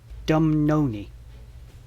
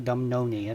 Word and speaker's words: Dumnonii: I'm trying my best with these pronunciations, and it is the Dumnonii. Dumnonii? I think it's the Dumnonii.